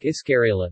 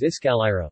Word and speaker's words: iskalayra: Another common mistakes that are often heard, is the mispronunciation of the Ivatan word like Iskarela, the correct is Iskalira, which means stairs, and Tumaraya, the correct is Tumayara, which means going up.